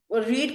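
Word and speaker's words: read: अब देखो बच्चे, ये जो रीड है इसको हम लिखते तो रीड रीड रीड है, बट इसकी प्रोनाउंसिएशन लग गया है, हम कहते हैं रीड रेड रेड। तो मैं बोलूंगी, बच्चे लिखते हुए स्पेलिंग सेम है, जब आपसे कोई पूछता है तो हम कहेंगे आई रेड अ बुक।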